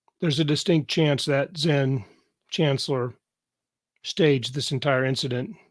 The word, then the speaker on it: Xen: period Mike went off my character's name is Zen here one of the characters and it's spelled Xen and I haven't added